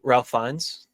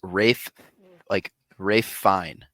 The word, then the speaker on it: Ralph Fiennes: Isn't it Ralph Fiennes? Apparently it's Rafe Fine. Wait, I thought it was like Ralph Fine, right? Is it not? I thought it was Ralph Fiennes. Apparently it's Rafe Fine.